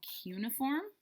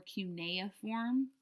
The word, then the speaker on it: cuneiform: Then we read about their writing was called cuneiform, or cuneiform. Doesn't really matter. Either way is fine.